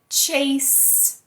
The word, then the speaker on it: chase: Então mais um caso em que a letra E tá no final e ela não é pronunciada, viu? Essa regra funciona, essa regra é boa. Mas a gente fala house. A gente fala chase.